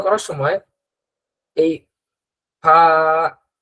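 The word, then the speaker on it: فاء: এখন আমরা ত, জ, আইন, গইন শেষ হলো, এবার আমরা ফা এর উচ্চারণ করব। ফা এর উচ্চারণটার মধ্যে জিহ্বার কোনো ব্যবহার নেই। ফা এর উচ্চারণটা হয় সামনের দাঁত, সামনের দুই দাঁত নিচের ঠোঁটের পেটের মধ্যে লাগবে, নিচের ঠোঁট, নিচের ঠোঁটের পেট, অনেকটা এরকম হবে।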